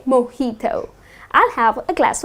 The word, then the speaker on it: mojito: But people tend to pronounce it as mojito -that's incorrect the correct pronunciation is 'Moheeto' So instead of putting stress on the 'j' you gonna say mojito.